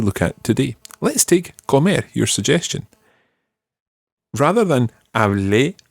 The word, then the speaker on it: comer: Comer. Comer. Okay, when you're saying an infinitive, always trying to put the pronunciation, or the stress rather, on the last syllable.